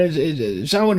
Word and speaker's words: Samhain: And Sin is spelled Sam Hayne, right?